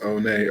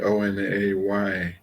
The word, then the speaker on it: One: Her twin brother, 2 minutes later, named One, spelled One, pronounced Onay, Onay.